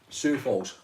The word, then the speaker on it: Sioux Falls: Right, how do you pronounce this one? Lynn, good morning from Sioux Falls? Sioux Falls.